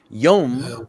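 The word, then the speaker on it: יום: Yom with an O water. sound Pronunciation.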